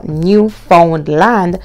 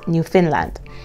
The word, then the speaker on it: Newfoundland: university of new finland now it's pronounced or it's spelled rather new found land but it's actually pronounced new finland it is in the province of new finland and labrador yes so we're all familiar with